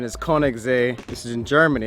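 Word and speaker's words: Königssee: it out to Kings Lake or the actual pronunciation is Koenig Z this is in Germany it's a really short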